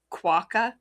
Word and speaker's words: quokka: It rhymes with rocka. I know that. But I want to say it's quokka, but he's pretty darn cute.